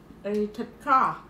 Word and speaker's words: thịt kho: The thịt kho. How do you say that? Yeah, pork. Thịt kho.